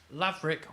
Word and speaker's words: Laverick: Lavick rhymes with Maverick.